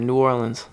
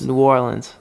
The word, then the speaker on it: New Orleans: You got to say it all one word. New Orleans. New Orleans? New Orleans. Okay. That's how they say it down there.